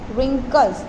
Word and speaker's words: wrinkles: It wrinkles, wrinkle नहीं बोलेंगे, W वाह होता है लेकिन यहाँ पे एक प्रकार से साइलेंट ही है वो. wrinkles, WRINKLES, wrinkles up, up your face.